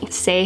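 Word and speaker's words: Saie: pronounce this I know I've been saying it with an accent like say it's not say it's actually just say thank you guys for telling me and correcting me say has some wonderful products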